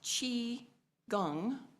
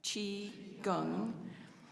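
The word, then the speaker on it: qigong: we just did some chiong exercises and it's pronounced Chi Gung if you want to prac practice that Chi Gung which means the cultivation of chi or energy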